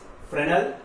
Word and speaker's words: Fresnel: Okay, Fresnel diffraction, S is silent here, and here Fraunhofer diffraction. Okay, Fresnel and Fraunhofer diffraction.